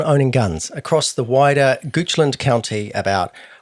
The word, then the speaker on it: Goochland: What else do we know about Goochland, which I just found out is pronounced Goochland, not Goochland, like I pronounced it at the top?